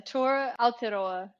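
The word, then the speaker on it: Aotearoa: you called the and I need to find out if I'm pronouncing this right I've got a t AOA now is that correct yeah the T aloa which means land of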